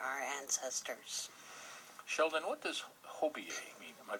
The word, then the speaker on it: Hobiyee: spirit of our our ancestors sheldon what does hobie a mean am i pronouncing that correctly hobie a yes hobie hobie is um a celebration for